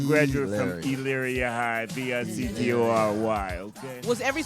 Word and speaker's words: Elyria: Elyria. You keep saying it wrong. Would you work with enchanted? It's Elyria. Elyria.